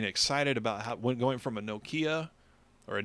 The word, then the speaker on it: Nokia: I mean, I remember my flip phone, getting excited about going from a Nokia, or a Nokia, apparently it's I pronounced still love Nokia, flip phone.